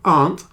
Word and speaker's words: aunt: So aunt has just one syllable.